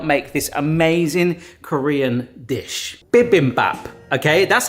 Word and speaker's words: bibimbap: For the first time, I'm going to attempt to make a bibbim bap. And I know I've pronounced that wrong. All these ingredients over here will hopefully help make this amazing Korean dish. Bibbap.